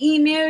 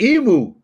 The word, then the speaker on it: emu: Have you heard Micro Farmer say emu yet? Go ahead, Micro. I pronounce it emu. There's no moo.